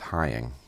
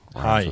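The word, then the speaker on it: Heying: Heather and I should say her last name is pronounced Hying. Hying.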